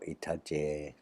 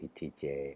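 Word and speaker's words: อิทธิเจ: chalks residues to make Pong Itije or Itaje, depending on who says it, to your preference. I say Itije, I find it more correct, and all earlier records use that pronunciation, so I prefer to stick with the old pronunciation.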